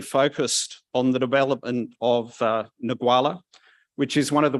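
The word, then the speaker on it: Ngualla: And I'm going to let you pronounce the name of the site. Go on, just once for me. Nagwala.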